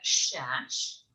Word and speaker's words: Szasz: My name is Szasz, and what I do is I'm a professional dog trainer with a twist.